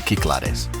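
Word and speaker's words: Κυκλάδες: Or, if you prefer the Greek pronunciation, the Cyclades.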